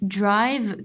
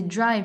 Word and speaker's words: drive: quand tu as dit drive que le i ça se prononce pas c'est drive c'est pas DRI et c'est pourquoi c'est à cause du e ici là DRI ok je